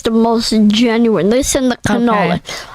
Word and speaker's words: cannoli: Listen, the cannoli. Okay. How do you say cannoli? Cannoli. It's got, if it's single plural, it's ganolo.